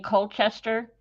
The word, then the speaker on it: Colchester: Colchester Art Center in Colchester, and I'm saying it correctly. I know you say it with the British way.